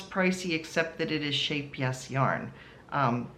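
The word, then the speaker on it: Scheepjes: except that it is shape yes yarn. Um which looks like sheep G's but Yoka who is Dutch actually told me it's pronounced shape yes.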